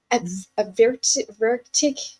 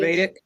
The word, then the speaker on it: Ayurvedic: in there, and I'm going to try and pronounce it. A vertic practitioner. Okay, I can't pronounce Mhm. it properly. Ayurvedic, Yes, yes, Ayurvedic practitioner.